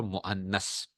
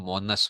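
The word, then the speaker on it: مؤنث: में भी मुजक्कर और आप कहते हैं मोनस, मोनस का लफ्ज नहीं बोलना, अच्छा मुअन्नस। ठीक है ना, ये सही प्रोनाउंसिएशन क्या है इसकी, तलफुज जो है वो क्या है, अल मुअन्नस, अल मुअन्नस। ठीक है ना, मोनस नहीं, मोनस गलत है, मोनस नहीं, मुजक्कर और मुअन्नस।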